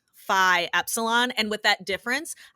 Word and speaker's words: Phi: because from Delta D Phi Epsilon and with that difference I have had people say defeat because the Greek letter Phi is actually pronounced fee in other places of the world um so defeat Epsilon